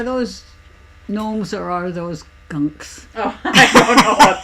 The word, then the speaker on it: gonk: You know, and it looks like it's spelled gonk, G-O-N-K, but it's pronounced gunk, like junk, gunk, or gunk.